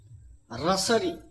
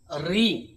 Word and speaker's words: ঋ: এটাকে বলছে ঋ রসরি রস ঋ এই ধ্বনিটির উচ্চারণ হচ্ছে আমরা জানি এটি হচ্ছে রসরি কিন্তু এর উচ্চারণ হচ্ছে ঋ সংস্কৃত বা দেবনগরীতে এই